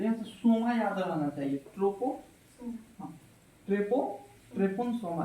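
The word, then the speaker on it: tsetse: ठीक है, सीसी फ्लाई, इसको सीसी फ्लाई, टी साइलेंट रहता है।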